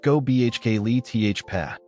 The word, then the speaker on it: Göbekli Tepe: Göbekli Tepe, pronounced Göbekli Tepe, a place older than Stonehenge, older than Egypt's pyramids.